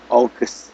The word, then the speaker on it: August: Jadi kalau Agus itu August gitu. Agustus itu August. Jadi pakai O di di awalnya.